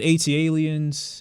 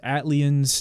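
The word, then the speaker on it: ATLiens: watch stand by me i've heard people pronounce it at aliens atlan's i always say aliens this is probably my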